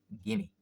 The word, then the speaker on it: gimme: So normally we pronounce it, or commonly, gimme, gimme, right?